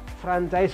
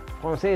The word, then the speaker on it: Français: Lalu ada kombinasi AI, bunyinya E. Dan ada S di ujung tidak dibunyikan. Kalau kita baca menurut apa yang kita lihat, ya jadinya franchise, bahkan bingung ini C-nya mesti dibaca gimana gitu.